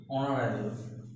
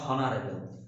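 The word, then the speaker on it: honorable: ঠিক আছে, আয়া, এই প্রত্যেক ক্ষেত্রে দেখো অ বা আয়ের মতো উচ্চারণ হচ্ছে, আওয়ার, আয়ের মতো, অনারেবল, অনারেবল, নট হনারেবল, হন নয়, এগুলোকে আমরা উচ্চারণ করি অনারেবল।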